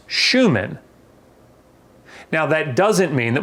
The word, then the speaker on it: Schumann: Shoe, man. Well, if I put these together, shoe and man, you could pronounce Schumann.